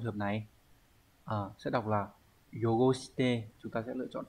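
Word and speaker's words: 汚して: Sẽ đọc là yogoshite.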